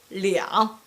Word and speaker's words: 两: When number 2 is followed by measure word, when number 2 is followed by measure word, the pronunciation for number 2 will be changed into 两.